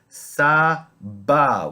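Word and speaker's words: סבא: Sa-ba, which means grandfather. It's quite easy because both the first two vowels make an identical sound in the Sephardic pronunciation.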